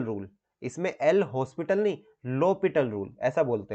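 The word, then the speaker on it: L'Hôpital: बोलते हैं आप लोग बोलते हो एल हॉस्पिटल यहां पे एच जो है साइलेंट रखना होता है लॉ पिटल बोलते हैं इसको इसको हम लोग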